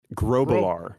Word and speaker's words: Grublar: Grobalar. Grow. That's right. It's a growth. Obalar. Yes, like a growth. Like a growth on the back of my neck.